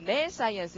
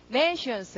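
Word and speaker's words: nescience: 근데 그렇게 강세가 앞에 들어가서 네 science 이렇게 안 하고 nations 이랍니다. nations. 쉬로 발음이 죽죠. 뒤에 말이 강세받는 말 다음 말이 발음이 죽으니까요.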